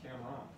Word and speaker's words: Camron: His name is spelled Camron. How would you pronounce that? Camron. Cameron. Wrong. It's Cameron. Yeah.